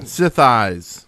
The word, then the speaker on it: Sithis: Sith eyes. Yes. I was like, Swatter. Rhymes with the floor. thighs or your eyes.